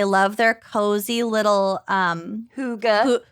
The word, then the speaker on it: hygge: their cozy little um hygge hygge hey what it's spelled h-y-g-g-e yeah people call it oh it's hygge didn't they make